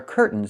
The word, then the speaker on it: curtains: This word has two pronunciations. I can say curtains or curtains. But don't say curtains. It's curtains with a real T. Curtains. Or I can use a stop T and say curt. Stop the air. Put the tongue up. Curtains. And go directly to the N. Curtains. So curtains or curtains.